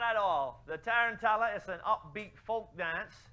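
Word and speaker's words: tarantella: saying it right called tarantala now I know I'm saying that right for those who might be alarmed don't worry it's not saying tarantula if anyone in here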